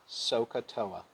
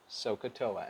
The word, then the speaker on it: SOHCAHTOA: Say so, ka, toa. Repeat after me. So, ka, toa. Then I want you to say it all together. SOHCAHTOA. SOHCAHTOA.